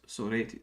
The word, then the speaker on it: Sorites: Yes, Sorites. So wait a minute. How come the accent is on the second syllable in Greek, but on the first syllable in English?